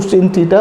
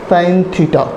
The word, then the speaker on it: sine: इसे सिन थीटा नहीं पढ़ेंगे, कुछ बच्चे पढ़ते हैं इसको सिन थीटा, बट इट इज नॉट सिन थीटा, इट is pronunciation as साइन थीटा।